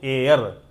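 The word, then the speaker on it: heir: हेयर नहीं बोलना है। हेयर मींस तो बाल हो जाता है। इसको हम लोग उच्चारण करते हैं एयर। एच साइलेंट है और जब एच साइलेंट हो गया तो उच्चारण हो रहा है एयर यानी कि उसका प्रोनाउंस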